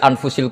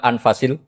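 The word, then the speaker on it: أنفس: anut bacaan saya saja di sini ditulis anfusil kutub kalau saya baca anfasil kutub karena maknanya kitab ter baik Kalau kitab terbaik bacanya bukan anfus tapi apa anfas ya nanti kamu debat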